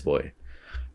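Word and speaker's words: Buoy: It's the B-U-O-Y. I think it is Boy.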